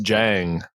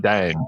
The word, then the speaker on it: Dieng: Mo, it's actually pronounced Jang, not Dang. Yep. Just look at the D and pronounce it as a J and then you'll be fine.